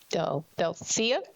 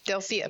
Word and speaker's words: Delia: Delia, did I say it right? Yes, you did. Yes, Delia, please.